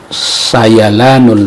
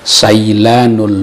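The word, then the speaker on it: سيلان: Sayalanul ma'i dibaca sailanul ma'i, itu keliru.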